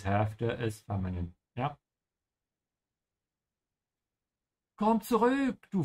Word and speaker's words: zurück: Also for your pronunciation, make sure you pronounce the T first. Actually not here, on the Z. Yeah, because the Z in German is a Z sound. Zurück.